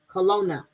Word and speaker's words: Kelowna: Kaluna. Is that how you say it? Kiluna or Kelowna. Kelowna.